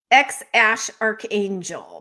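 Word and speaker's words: X Æ A-12: 12 um what now jennifer how is that pronounced again according to the musk family x ash archangel because a12 is the name of a plane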